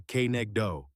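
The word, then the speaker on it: כנגדו: That work falls to the second half of the phrase Kenegdo, pronounced roughly Kenegdo.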